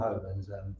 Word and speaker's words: Oban: Yeah, old Oban.